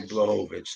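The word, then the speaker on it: Błachowicz: You say Blachowicz then.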